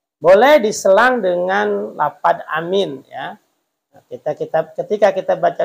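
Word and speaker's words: آمين: ya karena itu doa amin amin itu mad badal dua panjangnya amin itu panjangnya segitu jangan amin ya nanti takutnya berubah arti pendek semua Amin Amin a-nya pendek minnya panjang Amin Itu Amanah terpercaya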